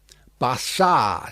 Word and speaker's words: Barsad: "Bassard," said Defarge, making it French by pronunciation.